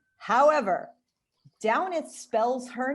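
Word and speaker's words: Damhnait: And the other thing is there is a woman who spells her name the same way, but pronounces it Devnet, and Devnet Monaghan is a singer who is slightly more famous than Downeth is.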